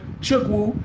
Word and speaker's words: Chukwu: Until this day, until today, the members pray to Chukwu Abama, or Abiyama, C-H-U-K-W-U, capital A-B-I-A-M-A.